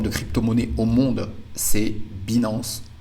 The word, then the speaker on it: Binance: cryptoonnaie au monde c'est binance binance si vous voulez le prononcer à l'anglophone il va falloir créer